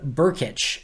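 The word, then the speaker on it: Brkic: from the minnesota vikings that is gabe burkich so b-u-r-k-i-t-c-h is the pronunciation b r k i c is the spelling uh but they claim them off waivers from minnesota again gabe burkich um undrafted free agent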